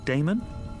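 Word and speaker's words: Daemon: a e m o n how do you pronounce that Damon if you preferred and this address I guess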